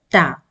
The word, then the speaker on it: ت: you pronounce the letter tap and when you pronounce the letter ta you will see that it is very similar to the English letter t in this lesson we